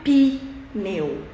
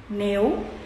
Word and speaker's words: pneu: nenhuma sílaba que termina por exemplo pneu não é pi meu é meu uma palavra que tem uma sílaba só então ela termina em